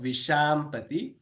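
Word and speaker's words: विशाम्पति: When you smile and try to say Sha, that is that exact pronunciation of Vishampati.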